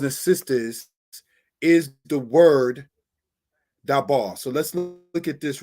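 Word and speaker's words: דָּבָר: Now, speak is dabar.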